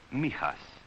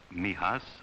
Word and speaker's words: Mijas: It is pronounced mias for most of my boys. Mihas outside the window there is almost the only part of Spain they will ever get to know.